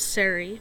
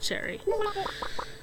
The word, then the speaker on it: Cherri: So I guess one you can technically pronounce Seri, but I don't. I pronounce it Cherry.